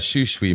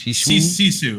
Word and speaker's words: Sisu: What was badass was that Shushui movie I saw yesterday. That's badass. Shishui, am I saying it right? Shushui. It's Sisu. Shishu. Sisu.